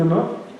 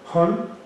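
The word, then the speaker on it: ohne: Y en alemán hay una palabra que se pronuncia, discúlpenme la pronunciación del alemán, Hon, que inicia con letra O, O-H-N-E. Y esa palabra Hon quiere decir en español ninguno.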